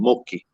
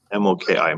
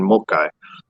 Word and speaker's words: Moki: people, they called them Moki, M-O-K-I, Moki. And a play on that word would be with an anglicized version of the pronunciation, Mokai.